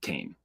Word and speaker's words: Cain: you count Kane because in Hebrew Cain is two syllables but in English we just say cane one syllable so right 12 to